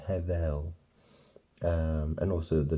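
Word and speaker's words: הבל: it's very interesting because it sounds like the first part of Heaven have and then L you know if you took the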